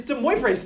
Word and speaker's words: de Moivre: yeah I know that it's de moas theorem right now it's French it's not Spanish okay it's not like oh yeah oh yeah there's Chile and then there's the right no no no no okay not Spanish it's French okay so so no